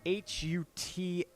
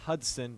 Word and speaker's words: Hutson: That's spelled H-U-T-S-O-N, not Hudson, but Hutson. Gotta enunciate.